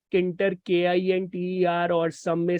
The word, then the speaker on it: tkinter: uh GUI in Canter you may call it as kinter k-i-n-t-e-r or some may